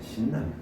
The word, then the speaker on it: 신라면: 신라면. 자, 그러면은 봐볼까요? 자, 얘는 왜 신라면이 맞느냐? 신라면 같은 경우에는 신과 라면의 결합이죠. 신과 라면의 결합입니다. 그러니까 신을 먼저 발음한 다음 연달아서 라면을 발음하기 때문에 이 라면을 발음하기 이전에 이 니은이 교체가 되지 않아요.